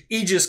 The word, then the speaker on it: Aegis: conjunction right because the egis combat system Aegis combat I like saying Aegis I'm sorry I'm just going to continue to say Aegis because America right so the Aegis